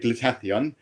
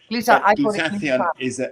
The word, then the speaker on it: glutathione: Okay, how do I pronounce it first so I get it right? So I call it glutathione. Glutathione is a very powerful antioxidant.